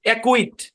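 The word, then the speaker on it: acquit: তো যাক, সি কে একসাথে থাকলে সি সাইলেন্ট। যেমন দেখেন একটা উদাহরণ, এই শব্দের উচ্চারণ হচ্ছে অ্যাকুইট।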